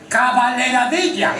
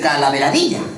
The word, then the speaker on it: calaveradilla: a usted en esta caballeradilla. Querrá decir calaveradilla. Pues eso dicho, caballeradilla.